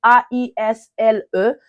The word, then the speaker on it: aisle: On écrit A-I-S-L-E, mais on prononce ça aisle, ok, aisle, aisle, ok.